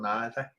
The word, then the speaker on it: neither: the same cluster and another a mistake people make is neither or neither both are right you can say neither neither you won't belong both correct ways of pronouncing it so that's a